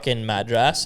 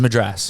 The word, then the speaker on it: Madras: curry yeah it's a Madras Madras yeah Madras you put emphasizing the wrong letter you're putting the emphasis on the wrong vowel it's it's Madras go on yeah it's